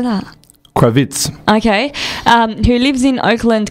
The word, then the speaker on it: Kravitz: Kravitz.